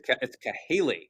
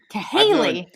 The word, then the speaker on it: Cahaly: a gentleman named Robert Cahaly, I think I'm pronouncing his name right. It's Cahaly. Cahaly.